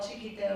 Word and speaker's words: Txikito: It's spelled in Basque with a TX, which is becoming more familiar to people, I think. But we were also very criticized for opening that restaurant with a name that no one could pronounce or spell. And to this day, my Spanish purveyors can never find our accounts because they're spelling it with a CH.